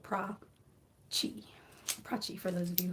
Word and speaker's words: Prachi: Oh, and Prachi is my first name, and it is pronounced like Prada and Chihuahua, so Prachi.